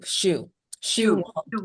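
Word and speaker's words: Siu: first name, I see it's Wong Shu. on the screen. First name is spelled S-I-U, Shu.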